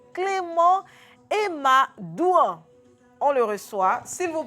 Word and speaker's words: Emadouan: Donc, Emadouan, j'ai bien prononcé.